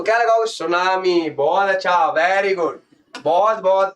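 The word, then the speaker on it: tsunami: wave तो क्या लगाओगे सुनामी बहुत अच्छा वेरी गुड बहुत-बहुत अच्छा ये चीज आप ध्यान रखना ये हो जाता है सुनामी सुनामी बेटी साइलेंट होता है आपको पता है है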